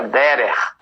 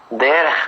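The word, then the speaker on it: דרך: uma palavra mais ampla se pronuncia dera dera apenas no local por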